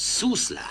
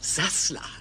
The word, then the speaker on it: Sassler: Der Name spricht sich Sussler. Nein, Sie haben recht, es heißt Sassler.